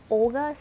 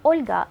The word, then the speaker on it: Olga: I think Olga sounds so harsh. If you were to pronounce my name in Russian, you'd actually say Olga with a very soft L.